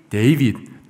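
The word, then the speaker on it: David: 그 중에 가장 많은 이름이 데이빗, 다윗의 영어 발음이 데이빗인데 데이빗이라는 이름이 참 많았습니다.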